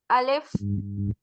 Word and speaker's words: الف: الف. Alif is pronounced from the emptiness of your mouth.